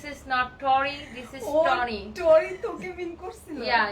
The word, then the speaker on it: Tony: যারা যারা আমাকে টরি লিখতেছিলেন তাদেরকে বলি আই এম নট টরি, আই এম টনি। ইংলিশে আমার নামের উচ্চারণটা টনি হয় এন্ড বাংলাতে হয় তনি, ঠিক আছে?